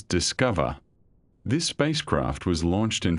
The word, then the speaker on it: DSCOVR: abbreviated to DSCOVR and pronounced rather pleasantly as Discover.